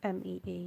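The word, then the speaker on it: Mee: So is a kind of variant on it because in my mum's dialect, her name is actually pronounced more like, not Me.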